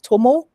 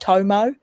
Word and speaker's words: Tormore: Why Tormore, not Tomo?